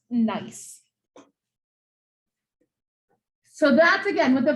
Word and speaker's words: gneiss: This is pronounced gneiss.